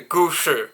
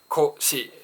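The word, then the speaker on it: 古詩: The gushi, written with the kanji furui and shi, right? goshi in Japanese pronunciation.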